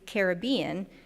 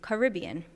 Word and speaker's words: Caribbean: She advocates Caribbean to respect the link to the Carib people as opposed to Caribbean.